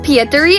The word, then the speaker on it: Pietari: Let's start off with this character we got on screen right now and he is Petari. Let's go. My beautiful little boy. His name is actually pronounced Peteri.